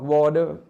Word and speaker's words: water: ไม่ เขียน ภาษา อังกฤษ water เนี่ย อเมริกัน ออก วอเดอร์ ไม่ เห็น เปลี่ยน ตัว